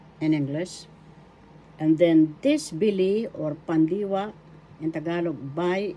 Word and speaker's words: bili: Now, let's have the pandiwa bili. Bili. First syllable B, second syllable li. The accent is in the second syllable bili.